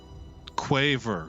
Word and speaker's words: quaver: Quaver. Quaver rhymes with waiver.